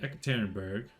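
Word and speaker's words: Yekaterinburg: take probably xanastine uh ekit tannenberg is the proper way to say it because it's named after Catherine the Great Catholic but I always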